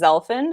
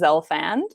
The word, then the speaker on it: Zelfand: in my family where my mother says zelfind and my father says zelfand so either one works or something in the